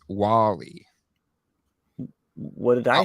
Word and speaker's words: WALL-E: How did you pronounce that? Wall-E. It's Wall-E.